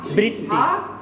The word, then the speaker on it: আবৃত্তি: আমরা রিকারের উচ্চারণ করি না। যেমন আমরা বলি যে আবৃত্তি, কি আসলে রিকারের কি উচ্চারণ হবে না, মানে বৃত্তি। মানে আমরা রিকার যুক্ত বর্ণটাকে দ্বিত্ব করি। আসলে কি দ্বিত্ব হবে? না।